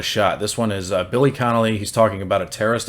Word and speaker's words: Connolly: connolly connolly connolly i gotta say it right connolly billy connolly um he's been hard to uh do reaction